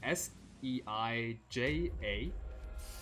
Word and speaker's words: Seija: name here is written s e i j a and the Japanese J is like if you romanized something as J then it's uh pronounced J so it's seija kijin